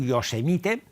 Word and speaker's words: Yosemite: El de Yosemite s'escriu Yosemite, però es pronuncia Yosemite.